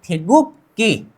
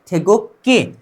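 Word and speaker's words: 태극기: अब उससे थोड़ा आगे जाते हैं, अब नीचे की तरफ देखिए एक ग है, ठीक है। नीचे की तरफ क्या है, एक ग है, उसके साइड में भी ग है, मतलब उच्चारण क्या करना है, क, ठीक है। थे गुक। अब ये दोनों को मिलाकर क्या होता है, क। इस साइड वाला चीज क्या है, ई, थेगुक्की, थेगुक्की, कोरियन राष्ट्रीय ध्वज, ठीक है, कोरियन राष्ट्रीय ध्वज।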